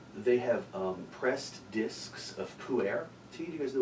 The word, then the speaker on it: pu'er: I was like, so like, It's not spelled P-O-O-A-I-R. I have a teenage son. I know exactly what pu'er is.